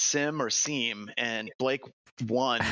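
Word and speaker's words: SIEM: I've always wondered if it's sim or seam. And Blake won. It's now from pure forth, it's sim. It's the only way. J is silent.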